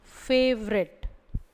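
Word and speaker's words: favourite: அதனால் இதில் எப்படி படிப்போம்னா ஃபேவரெட் ஃபேவரெட் பிடித்தமான.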